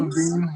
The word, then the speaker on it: Lavigne: How do you pronounce her last name? Lavigne? Levine, yeah. Okay.